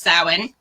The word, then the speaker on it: Samhain: they're spelled right so it looks like it'd be pronounced one way in english but it's totally not um so it's pronounced samhain and that is a